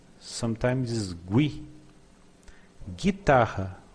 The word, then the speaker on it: guitarra: Guitarra, we do not pronounce the U.